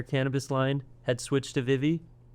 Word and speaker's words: Vivi: I Is that how you pronounce it? Yeah. That's That's very good. It's boa, right? And it's Vivy. Vivy. Yeah, you can say Vivie.